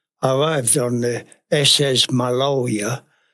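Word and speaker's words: Maloja: arrived on the SS maloa Malia m a l o j a is pronounced my lawyer it was a piano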